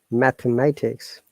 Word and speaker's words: mathematics: know how it works mathematics so this th of mathematics is unvoiced because there's a theta sound mathematics so welcome everyone